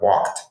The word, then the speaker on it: walked: at the end but when you say walk you say walked you don't say walk right so it's like a t sound at the end rather than a v sound at the end right that it turns out that there's a rule that explains why you have to modify that sound at the end to be this hard T like walked instead of this softer D like walked right and so that's